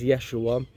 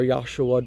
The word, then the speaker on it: Yeshua: spoke Aramaic name is Yeshua or yosua depends on how you say it so when I say